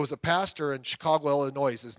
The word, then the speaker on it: Illinois: 1988, there was a pastor in Chicago, Illinois. His name, Chicago, Illinois. The S is silent, by the way.